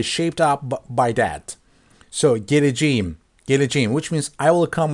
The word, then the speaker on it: geleceğim: But we don't say gelecekim, so we soft this K into soft G. So here it means geleceğim.